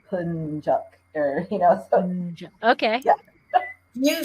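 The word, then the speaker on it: Yapıncak: There is an I with the dot that has a different sound that sounds more like an E.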